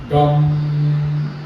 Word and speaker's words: गं: गम इनका बीज है लेकिन गम का उच्चारण हम जो करते हैं ना तो गम वाला भाषा में जो गम होता है ऐसा हम करते हैं तो गम का उच्चारण तालुस्त होना चाहिए।